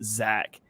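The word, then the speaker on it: Zech: was yeah it's crazy it's spelled z-e-c-h but pronounced Zach yeah that one that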